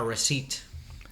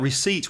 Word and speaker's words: receipt: and another thing about receipts when you see it the word is ar e SI e IPT the pronunciation has nothing to do with the spelling the P is silent and its receipt receipt